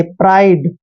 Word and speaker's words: pride: Next देखिए PRIDE, पी का उच्चारण हम पै करते हैं, आर को रे लिखते हैं, IDE का उच्चारण आइड करेंगे, प्राइड।